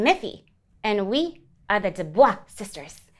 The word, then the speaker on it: DuBois: Well, this is my sister, Muffy, and I'm Miffy, and we are the DuBois sisters. The L is silent.